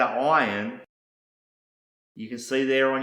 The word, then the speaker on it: Ayin: The first letter is an Ayin, a Yod, and a final Nun, and it's pronounced Ayin.